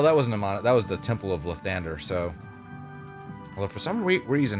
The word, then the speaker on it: Lathander: Well, that wasn't a that was the Temple of Lathander, so. Although for some reason he pronounced it Lothander. Like it's L-A. Lathander. The Morning Lord.